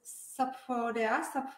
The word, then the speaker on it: Sapfo: Dneska tady mám Sapfo, říkám to správně, nebo jak se říkáš to vyslovuje? Říkáš to správně, ale klidně můžeš říkat jen, nebo, nebo jak chceš, prostě netrvám na ničem.